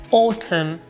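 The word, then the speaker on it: autumn: velocissima precisazione sulla pronuncia in UK lo pronunciano comunque con la o chiusa quindi è autum per me è difficilissimo farlo autum mentre in American english It's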